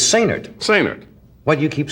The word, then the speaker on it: Sainert: Now, why do you say the accent is on the last syllable? He likes it that way. Say nerd. It's like say nurse, only say nerd.